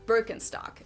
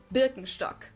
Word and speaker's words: Birkenstock: So, English speakers usually say Birkenstock. In German, we say Birkenstock.